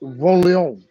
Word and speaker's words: Von Leon: Again, my name is Von Leon from, you gotta say it like you're French, Von Leon.